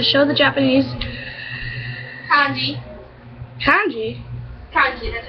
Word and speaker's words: kanji: Kanji, that's how you pronounce the word.